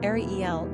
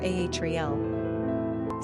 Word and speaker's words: Ariel: Pronunciation, Ariel or Ahriel.